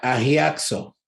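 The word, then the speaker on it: ἁγιάζω: Cuando está usando la palabra santificar ahí, es una palabra en el griego que se pronuncia agiaxo.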